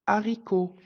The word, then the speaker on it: haricot: est la lettre H le H ne se prononce pas quand il est en début de mot exemple un hérisson le haricot la lettre muette au